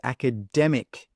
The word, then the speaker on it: academic: So remember, this word is academic, demic. The stress is on that dem.